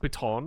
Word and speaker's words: piton: I have a pitten if you need it. All right. No, we're good. I do have a pitten, Okay. It's pronounced piton.